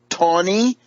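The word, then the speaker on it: Taney: is going to join the ranks of Roger Tony TN e y but pronounced Tony of Tony Town Maryland up the road Dread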